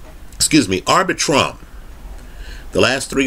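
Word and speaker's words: Arbitrum: opportunity to invest in it but it's called arbitron excuse me arbitrom the last three letters are r-u-m right let's spell it out a-r-b-i-t-r-u-m arbitrom just understand that this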